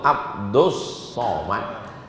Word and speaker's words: Abdus Somad: Itu salah kalian. Yang betul tuh Abdus Somad. Tapi kenapa ditulis Abdul Somad? Itu ejaan Inggris. Kalau ejaan Arabnya Abdus Somad.